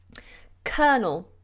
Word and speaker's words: colonel: the ball now I caught the or yesterday colonel colonel sorry cologne I think actually I think